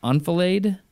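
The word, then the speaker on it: enfilade: want everybody to be I think the pronunciation is unila I've only seen it in text but e n f i l a d e it's a it's a French term un new terms for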